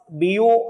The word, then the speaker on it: Biot: experimentally determined by biotin savarts it is actually pronounced as bo and sawa that is the correct pronunciation the